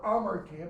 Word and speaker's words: hamartia: That word, hamartia, or amartia, because H is not pronounced, when it is used in the Greek New Testament, because it is, it's used all over.